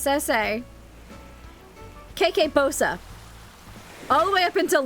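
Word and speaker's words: Bossa: It's Bosa." Like Bosa Nova.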